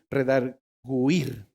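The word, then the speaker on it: redargüir: o qué es redarguir porque en primera tiene diéresis en la parte superior lo cual me dice que esa letra se pronuncia Igual cuando escribo pingüino redarguir la palabra redarguir en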